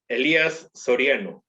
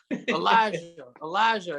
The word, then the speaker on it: Elias Soriano: pronouncing my name right elias soriano elias thank you not not elias elijah you're allowed as you're right in that sir there's no jay all right man god